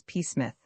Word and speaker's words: Psmith: The name is Psmith.